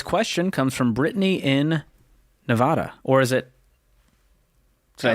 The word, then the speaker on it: Nevada: dcom Ramsey today's question comes from Britney in Nevada or is it did I say it right yeah you did Nevada are you sure I don't think it is